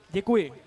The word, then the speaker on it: Děkuji: Děkuji.